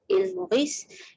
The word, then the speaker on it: Île Maurice: So the island of Mauritius, or as they pronounce it, Île Maurice, is located in the Indian Ocean.